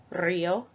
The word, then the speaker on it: río: So first example, you do not roll your R, Marta, hombre. And the second example, you roll your R, río, corro.